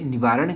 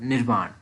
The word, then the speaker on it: निर्वाण: निवारण किसको कहा जाता है ये भी आप याद रखिए। निवारण नहीं, एक्चुअली इसकी प्रोनाउंसिएशन है निर्वाण।